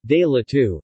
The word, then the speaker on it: gelato: gelato Italian pronunciation Dayla to his ice cream made